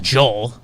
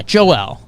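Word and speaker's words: Joël: it but it's joelle it's not joel yeah right joel embiid sure he's not american so joel embiid anyways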